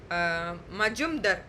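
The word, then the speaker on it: Majumdar: அதில் வந்து ஒரு முக்கியமான ஒரு ஜஸ்டிஸ் எஸ்பி நீங்கள் எப்படி ப்ரொனவுன்ஸ் எல்லாம் பண்ணிக்கோங்க. எனக்கு ப்ரொனவுன்சிங்க்கு நான் இதை சொல்லிக்கிறேன். மஜும்தர், சரிங்களா?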